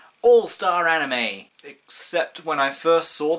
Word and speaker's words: anime: pronounce as free I was pretty adamant that anim was the correct pronounciation of anime uh to the point where